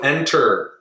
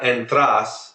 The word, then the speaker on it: entras: everyone kamos okay you enter Brian how do you say you enter interest good be careful you're putting the stress at the end there it's not entras it's ENT can you hear the difference entana you enter the